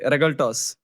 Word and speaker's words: Regaltos: Rigaltos. I might be saying that wrong. Wow. Brother. How do I say it? Did I say it? Yeah, it was absolutely right. Regaltos. You can call him Regaltos, Regaltos, and yeah.